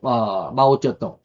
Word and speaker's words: 마오쩌둥: 중국인들은 중국식 발음으로는 마오쩌둥, 우리 한문 발음은 모택동이라고 그럽니다.